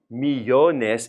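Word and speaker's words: millones: it's no longer necessary now me Jonas is three syllables and remember our rule from before about words with three syllables if it's three syllables we stress the middle syllable so now we don't need the accent me Jonas we're already stressed in the middle so we get rid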